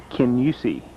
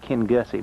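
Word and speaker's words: Kingussie: This is a place we're staying on Wednesday night in Kenyusi. Spelled like Ken Gussy, but they pronounce it Ken Yusi.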